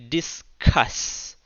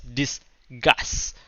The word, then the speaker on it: discuss: argue make sure you pronounce the word correctly discuss and not mispronounce that syllabus about it as disgust because disgust means okay so disgust argue number